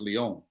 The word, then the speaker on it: Lyon: dies he died in lyon so yeah i bet you didn't know it's pronounced leon no no no no not